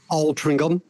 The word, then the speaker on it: Altrincham: Altrincham, yes, Altrincham, with a G.